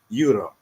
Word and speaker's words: Jure: And just to say my name, real pronunciation is Euro, like the money.